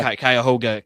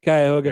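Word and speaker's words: Cuyahoga: Metrop Parks land and I'm not going to pronounce the county. Kyoga. Kyhoga County. Tommy boy. Thank you. Kyoga.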